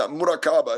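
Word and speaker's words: مراقبة: Yeah, murakaba is how you say it in Arabic, literally, and that's where the word merkaba comes from, which is a light vessel.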